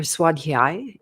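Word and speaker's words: Svadhyaya: All right, so we're still on the NAMS and the next one is called Suaday and or Swadhi is a better pronunciation for the word by itself.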